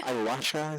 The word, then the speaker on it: ayahuasca: ayahuasca, is that how you pronounce it?